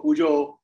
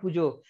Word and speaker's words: puja: I like the way you pronounce the word pujo. I am not from Bengal, but Bengalis, they do pronounce it as pujo. We pronounce it as puja, but I like it the way you do.